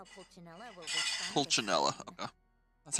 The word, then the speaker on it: Pulcinella: Pulcinella, okay. That's how it's Chuganov.